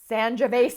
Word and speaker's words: Sangiovese: Sl- It rhymes with Schmangiavesi. Sangiovese.